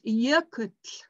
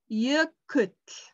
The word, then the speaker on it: jökull: It's jökull. You have to use your tongue. Jökull.